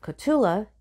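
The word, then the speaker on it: Cotulla: August 2009 first in the little town of katula yes that's how it's pronounced and then Laredo he rose through the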